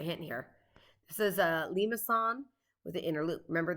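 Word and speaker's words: limaçon: here this is a limassan with the inner loop remember this could also be pronounced limacon limacone limasone lots of different ways but this one has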